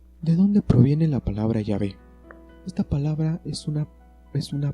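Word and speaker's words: Yahvé: consonantes h wv h que los judíos pronunciaban así y en castellano se escribe la pronunciación llave es sin duda en la pronunciación más correcta del hebreo original para indicar adiós como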